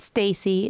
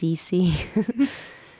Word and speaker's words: Cece: It's a little easier to say from stage, and people can kind of understand, although they think I'm saying Stacy a lot, which it's not Stacy. It's Cece.